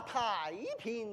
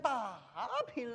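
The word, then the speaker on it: 太平: 哎，春才明明是天下太平，你怎么念成大平来了？你说我怎么念？太子多一点。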